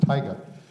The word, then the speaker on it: taiga: know how to pronounce it's pronounced tiger and a tiger is a biome also